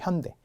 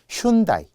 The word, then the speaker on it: 현대: 맞지 않은 그룹이 현대 현대 현대 자동차의 현대 외국에서는 현대라고 읽지 않거든요 현다이 현다이 읽어요 마치 무슨 일본 그룹